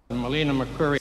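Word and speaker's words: Melina Mercouri: Melina McCurry. So that's how you pronounce her name.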